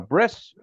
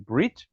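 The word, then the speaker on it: ברית: Covenant means Eternal uh we often talk about a bris but that's just the ash azi way of pronouncing breit um the word breit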